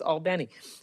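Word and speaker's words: Albany: Bishop, I know you know I know how to pronounce All Benny. And now, House Republicans are slashing funding for clean water projects by 62%. Leaving cities like Albenni to either raise rates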